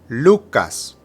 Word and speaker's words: Lucas: third we have Lucas the emphasis is again on the first syllable Lucas Lucas finally we have